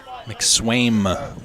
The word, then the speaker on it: McSwaim: McSwaim with an M on the end. Yeah, I saw that. I pronounced it with an M and was making sure we didn't have a misprint there.